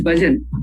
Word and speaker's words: bhajan: will be a problem for them for example bhajan we know it is bhajan but because when there is no stress pattern